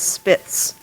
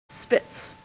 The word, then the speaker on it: Spitz: ET this word has a homonym it is spits the word is from German it is a noun a medium-sized white dog descendant from Pomeranian ancestors and often regarded as a constituting a separate breed Spitz and any alternative pronunciations spits can you tell